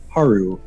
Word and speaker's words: Haru: new friend with uh haru haru yes heru who i name who is pronouncing her rook for the longest time i just heard it wrong but yeah haruk the earth bender the